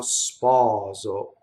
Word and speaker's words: sposo: Sarà mio sposo. It's not sposo, sposo, right? Open, closed.